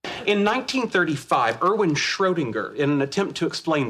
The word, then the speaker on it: Schrödinger: ahí está, así como se pronuncia Schrödinger.